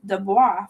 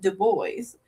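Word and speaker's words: Du Bois: I bet he didn't tell you that he pronounced web deo's name as devois for years until I told him that it's pronounced de boys.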